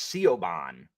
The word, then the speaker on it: Siobhan: Sao, S-A-O, Saoirse, or Saoirse if the E is silent. That is I know that's Siobhan, but it's Siobhan.